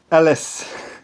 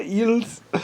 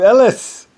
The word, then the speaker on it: Ellis: So Ellis, so I become Elis. I'm not Eels. I'm Ellis.